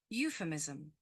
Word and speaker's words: euphemism: first, It's here on the first syllable. Can you see this little line here? Mhm. That indicates that the following syllable has the main stress. Yeah. So we can see that the first syllable there is stressed.